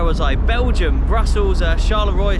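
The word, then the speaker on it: Charleroi: I Belgium Brussels uh Charlevoix shallower as it's pronounced and um I got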